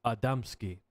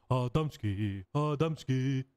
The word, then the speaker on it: Adamski: I'm sorry, I mispronounced your name. It's pronounced Adamski. Adamski.